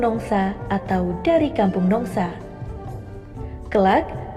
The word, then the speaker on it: Nongsa: Pengucapan Nong Isa kemudian disingkat ke Kampung Nongsa atau dari Kampung Nongsa.